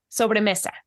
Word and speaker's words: sobremesa: And please correct me if I don't pronounce this. Sobremesa? Sobremesa.